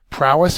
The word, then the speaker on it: prowess: finally antonym is hidden prowess is next prowess is a noun it's a first syllable accented distinguished bravery superior skill